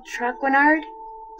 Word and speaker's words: Traquenard: I'm sorry to bother you, but are you Jean Michel Traquenard?